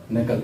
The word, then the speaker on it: knuckle: Next नकल, KNUCKLE नकल। इसमें के साइलेंट है।